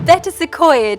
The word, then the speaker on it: Betws-y-Coed: Or Betsy Coed if you want the correct pronunciation, which translates to Prayer House in the Woods.